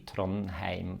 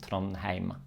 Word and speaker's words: Trondheim: And the EI combination is an A. Tronheim. Tronheim.